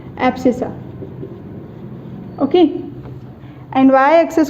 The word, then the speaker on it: abscissa: System में बात करेंगे तो उसे हम बोलेंगे एब्सिसा। Okay, एब्सिसा। ओके, हाँ, एक्स एक्सिस राइट स्पेलिंग यही है, ABSCISSA।